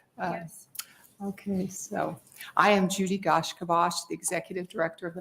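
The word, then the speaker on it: Judi gaiashkibos: Okay, so I am Judy Gashkivash, the Executive Director of the Nebraska Commission on Indian Affairs, and that is spelled JUDIGAIASHKIVOS.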